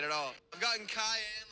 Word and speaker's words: Kahan: Cayenne, like the pepper, which phonetically Noah Cayenne, actually, so we're both wrong.